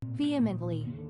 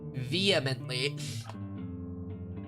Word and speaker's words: vehemently: Vehemently. Vehemently. Man, I like pronouncing the H vehemently, but it's a vehemently and it's like it's not as fun. It's not as fun when you don't pronounce the H.